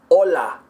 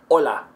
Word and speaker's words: hola: Hola, I put it up on the roof of my mouth and it should be really firm.